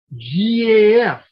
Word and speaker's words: GAF: or if you're hank fonda how do you pronounce it gaf i'm old what can i say um so